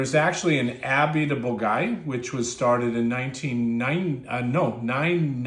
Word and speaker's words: Bourgueil: So you can see the Lir River cuts right through here and you've got Shinol here and you've got Bogai right here. And it's pronounced Bulgai.